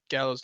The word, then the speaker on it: Gallo: I mean, I guess we could change it to percentage because I know Gallo's not. Or I think he actually does pronounce it Gallo. It's not Gallo, right?